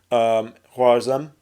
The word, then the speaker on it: Khwarezm: well when they invade the Khwarezmian Empire, sorry, Khwarezm, let me pronounce it correctly, against Shah Muhammad II.